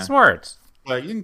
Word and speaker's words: Swartz: dental lab d and Schwarz no that's not right what is it good not bad I went instantly to the Schwarz be with you but I know that's not right how do you say your last name we say it h Schwarz yeah sarts but you can call